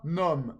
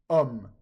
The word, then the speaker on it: homme: of the O of homme, okay? So the same for hospital, okay? It's hôpital. The H in English is pronounced, but in French it's silent, so it becomes a vowel sound, okay?